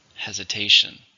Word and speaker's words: hesitation: How many syllables are in hesitation? 4, stress on the third, hesitation.